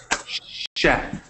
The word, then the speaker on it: chef: Necesitamos decir Sh chef, como SH. Sh Chef.